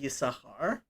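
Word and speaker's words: Yissachar: people will say yisashar generally that sin is is silent and it's the only time i i can think of that as sin is silent but in that name basically everybody will say ysahar um except for that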